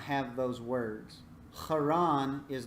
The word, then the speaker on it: Haran: Testament passage we read, did write Haran with CH, which would be more appropriate for the pronunciation because in Hebrew you have what are called guttural letters, which are pronounced with the back of the throat, and we don't have